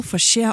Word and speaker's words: Fouchee: This morning, I am so excited to have Paul Fouchee on the show. He is a crime scene decontamination technician. I know I've pronounced that correctly because I've been practicing.